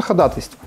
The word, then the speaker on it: ходатайство: Поэтому правильно будет, конечно, ходатайство.